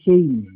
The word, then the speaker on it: Shem: or yung sem sa salitang Hebrew po ay shem shem pa rin s h e m m pero kapagka pinon siya sa hebreo is shame okay okay shame pero hindi meaning pronunciation lang pronunciation ng kanyang pangalan shame pero